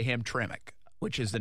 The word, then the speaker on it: Hamtramck: The town is Hamtramck. Hamtramck. She actually gave me a pronunciation.